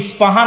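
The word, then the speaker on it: اصفهان: আমরা প উচ্চারণ করি ইস্পাহান, আরবিতে এটা উচ্চারণ হয় না। আরবিতে হয় আল আসবাহানি, বা উচ্চারণ হয় ইসবাহান বা আসবাহানি।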